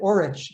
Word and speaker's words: Orich: Looks like Orich, but we pronounced it Orich, the same way I do now.